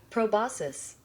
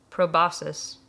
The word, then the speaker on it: proboscis: I also mispronounced this word, which is apparently proboscis. Proboscis.